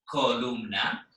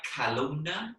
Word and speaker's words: columna: So you have to be a little careful of pronouncing that word. The reason being that we tend to say things like columna in English, and it sounds a little weird. So it's columna.